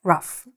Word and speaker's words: rough: I know this word is spelled like this, but it's actually pronounced just like R-U-F-F, rough, okay? A diamond in the rough.